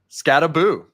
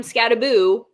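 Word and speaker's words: Skattebo: who I default to at all times for pronunciations. Scataboo. He does have it. It's in the background. So Scataboo B. Thanks Dane Cam. Scataboo is on team roads.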